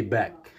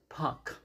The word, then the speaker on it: park: in the wrong place don't say back exactly because it should be wrong you have to say puck you have to enunciate you have to pronounce exactly don't park the car